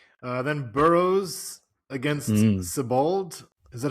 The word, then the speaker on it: Sebald: Then Burroughs against Sebald. Is that how you pronounce that? Zebald.